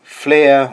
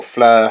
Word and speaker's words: Flir: So basically, the Flir or Fleur, however you like to pronounce it, is more than likely